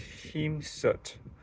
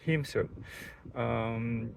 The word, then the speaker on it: Hēmsut: I believe it's pronounced Hēmsut. Correct me if I'm wrong, but that's when I looked it up with a line, like straight line over an E like that. I believe it pronounced it as a long E, sound like E, double E.